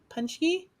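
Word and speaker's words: pączki: they were jelly donuts those are pop pop punch punch punch key but it's but it's spelled p-a-c-k-z-i or something oh okay yeah so now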